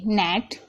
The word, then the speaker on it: gnat: अब देखिए GNAT, नेट, यहाँ पर आप देख रहे हैं, यहाँ पर शुरू में जी आ रहा है तो जी साइलेंट है।